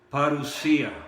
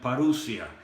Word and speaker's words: parusía: muchas veces es la palabra griega parusía o algunos la pronuncian parodia y esa palabra se